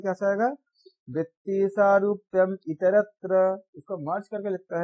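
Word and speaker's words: वृत्तिसारूप्यमितरत्र: हमारा वृत्ति रहेगा, या इसको हम अगर पूरा उच्चारण करेंगे तो कैसा आएगा, वृत्ति सारूप्यम इतरत्र, इसको मर्ज करके लिखता है वृत्ति सारूप्यम इतरत्र,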